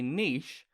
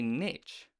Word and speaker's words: niche: oppressive capitalist machine but why do some people say niche and others say niche if you're british you're probably thinking niche is just something those dumb americans say and if you're one of those dumb americans you of course think niche is one of the many charming idiosyncrasies to make british people so endearing according to the oed the